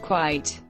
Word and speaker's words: quite: quiet of the country be careful about the pronunciation of quiet quiet and quite quite here are both in one sentence I want you to be quite quiet for five minutes obey obedient obedience